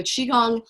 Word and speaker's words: qigong: I often spell it CHI because if I spell it QI, people don't know how to pronounce it. They go Qigong, or, you know, in our culture, that QI doesn't, if you don't know that it's Qi, then you wouldn't pronounce it that way.